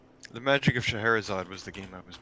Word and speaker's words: Scheherazade: Okay, it is spelled S-C-H-E-H. Oh, I got it. Yeah, okay. Yep, I'm letting that autocorrect. Scheherazade. Scheherazade, okay.